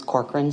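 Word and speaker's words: Corcoran: My first name is spelled. My middle name is Corkran.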